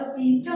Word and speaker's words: sphincter: In the urethra, you have a sphincter muscles. This is S-P-I-N-T-C-H-E-R. C-H is silent here. It is known as sphincter muscles.